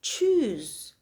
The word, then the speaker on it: choose: So chose is simply the past tense of choose. Let's take the pronunciation again.